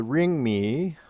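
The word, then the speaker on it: Rimé: And then the Ringmi, you pronounce the last E, was started towards the end of the 18th century.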